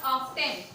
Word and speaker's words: often: It is how often, we it's not often. It is often. T is silent.